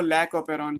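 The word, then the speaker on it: lac operon: तो ये क्या कहलाएगा, ये लैक ओपेरॉन कहलाएगा, लैक्टोज ओपेरॉन बोलेंगे, आप प्रोनाउंस इसको लैक ओपेरॉन कहते हैं।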